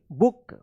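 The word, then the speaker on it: book: छोटा उच्चारण जैसे बी डबल ओ के बुक एल डबल ओ के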